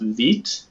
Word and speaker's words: Vite: So I think it's pronounced Veet.